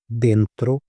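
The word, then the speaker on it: dentro: उसके बाद में अगर कोई भी चीज़ अंदर है तो उसको हम बोलेंगे डेंत्रो।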